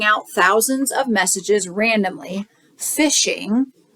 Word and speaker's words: phishing: thousands of messages randomly phishing right sounds like fishing but it's spelled with a pH so they're phishing to